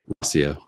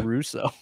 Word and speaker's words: Rauseo: It's Rauseo. Rauseo, because I want to just say Russo.